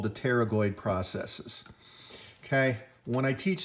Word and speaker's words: pterygoid: i pick that is there is no other word that i can think of that begins with a silent p which is called pterygoid so these pterygoid processes